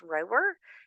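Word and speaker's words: Rohwer: He spent most of his childhood at Camp, I think it's pronounced Rower, in the swamps of Arkansas, and then even more time at the windswept Camp Toole Lake in Northern California.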